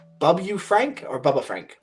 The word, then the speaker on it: Babu Frick: I'm gonna say his name wrong. Bubba Frank or Bubba Frank? Babu Frick.